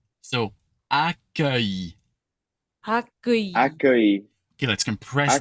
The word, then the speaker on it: accueil: So think UH, but like placed very high, and then E. So accueil.